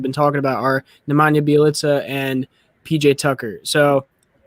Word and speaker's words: Bjelica: It's pronounced Bjelica.